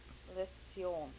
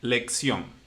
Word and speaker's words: lección: Oh, lesion. Okay. The pronunciation, the intonation is good, but in this case, remember, it's Spanish. It's not. So it will be lección. Lección. Da.